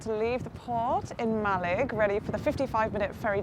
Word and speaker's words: Mallaig: the past five hours calling it malay but it's actually just malig although i've been told